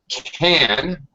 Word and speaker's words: can: Uh can the modal verb is generally greatly reduced in pronunciation in spoken English. The a sound actually becomes like a schwa sound.